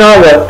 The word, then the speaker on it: hour: 60 minutes 60 دقيقة كنقولوا an hour، an hour، هاد اش ما كنطقوهاش كنقولوا one hour أو an hour، an hour.